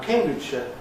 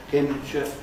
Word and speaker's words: Cambridgeshire: Now, Cambridgeshire, I can think of saying it the first way I've transcribed here, Cambridge, Cambridgeshire, or with a j, Cambridgeshire. I can't feel I'm doing anything different, I can't hear anything different when I say those. They sound the same to me.